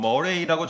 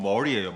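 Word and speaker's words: Murray: 존 머레이라는 분이 있는데 아 이분은 이제 사실이 발음이 존 머레이라고 적었지만 정확히 말하면 존 머리예요. 머리 머리가 맞아요.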